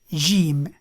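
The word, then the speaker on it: جيم: Jim, J, J. Now, Jim has a number of pronunciations based on the dialect, but let's use Jim for now.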